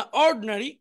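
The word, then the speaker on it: ordinary: আবার দেখি, অ্যাটেন্টিভ মনোযোগী, ইনঅ্যাটেন্টিভ অমনোযোগী, ইন্ডাস্ট্রিয়াস পরিশ্রমী, আইডল অলস, এডুকেটেড শিক্ষিত, ইগনোরেন্ট অশিক্ষিত, ইন্টেলিজেন্ট বুদ্ধিমান, অর্ড এখানে আইটা উচ্চারণ হবে না, অর্ডিনারি সাধারণ।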